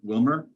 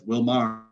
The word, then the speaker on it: Willmar: First of all, Carl, I'd like to say thank you for correctly pronouncing Willmar, as opposed to everyone else who sees it says Willmar.